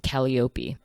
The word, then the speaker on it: Calliope: so for those wondering in the audiobook she does actually pronounce it kellyopi which is funny because you know I would would say Calliope but that doesn't sound